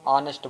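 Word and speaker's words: honest: कि नहीं निकल रहा यहां पर एच का साउंड नहीं निकल रहा क्योंकि इसको हम ऑनेस्ट बोलते हैं अगर हम नेस्ट बोलते तो लगा सकते थे इसको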